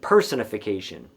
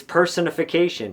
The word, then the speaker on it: personification: He just put the stress in the wrong place and he said personification. And I actually like that mispronunciation a lot because it reminds us what exactly personification is. It's personification.